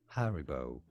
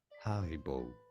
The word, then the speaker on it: Haribo: In British English, this is normally said as Haribo, an emphasis on that first syllable.